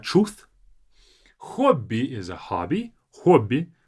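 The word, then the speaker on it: хобби: Hobby. Make sure to pronounce it as hobby with the O.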